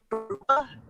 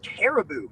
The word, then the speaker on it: Caribou: think you pronounce it Karuba? I thought it was pronounced caribou, like the animal, a caribou.